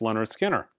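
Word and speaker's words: Lynyrd Skynyrd: Jazz records you should own Leonard Skinner is pronounced Leonard Skinner Oscar Peterson trios doing West Side Story another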